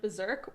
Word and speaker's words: berserk: I was watching a podcast earlier today or yesterday where it was brought to my attention that in the word berserk, we don't pronounce both R's.